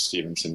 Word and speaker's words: Stephenson: okay and my last my last name is spelled with a ph so that's you know it sounds like stefansson music but it's stevenson music got it great thank